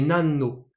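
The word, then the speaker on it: 何: analyse ça va pas faire nalinnes home et nano voilà il se prononce nan devancé canala et puis plus tard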